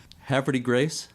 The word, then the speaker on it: Havre de Grace: Havre de Grace? Yeah, that's the way we pronounce it.